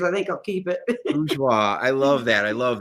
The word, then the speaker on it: Bourgeois: is it Bourget? How do you say your last name? It's bourgeois. Bourgeois.